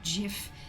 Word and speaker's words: GIF: Yeah, it's pronounced GIF.